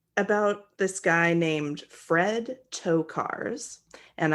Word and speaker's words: Tokars: this guy named Fred toe cars and I did spell that phonetically for myself it is to cars but it's spelled t o k a RS this took place in